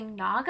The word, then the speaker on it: Naga: This one was so good because it was a romance with a Naga, I think is how you pronounce it, N-A-G-A, which is basically like a